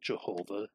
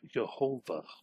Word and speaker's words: Yehovah: But if it is supposed to be the real name of God, it isn't Jehovah, it is Yehovah.